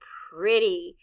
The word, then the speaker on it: pretty: In this word, the letter E stands for the short I sound, I. The letter Y stands for the long E sound, E.